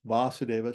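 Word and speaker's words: Vāsudeva: So text 43 an hour or even a moment passed without thinking of vasadeva here here it means vasadeva should be a long a there's no diiocritics in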